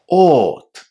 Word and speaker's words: ought: But, in fact, those 5 letters at the end are just 2 sounds in English. Ought. Again, a long O, not O, and T.